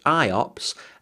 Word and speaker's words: IOPS: There's the IO or block size, the input output operations per second pronounced IOPS and then the throughput.